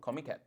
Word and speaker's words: Comiket: What is Comiket from? Comiket, I think is how a lot of them pronounce it. So it's comic market.